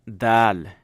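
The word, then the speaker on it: دال: That's how dal is. Okay, dal is just like how we pronounce the.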